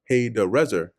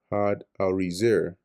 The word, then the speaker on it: Hadadezer: And Hadadezer, or Haydarazar, sent Oh, boy, I pronouncing his name wrong the previous chapter.